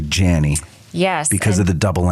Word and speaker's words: Janney: were talking beforehand it's janie it's a long a yes it's janie but most people would say janie yes because of the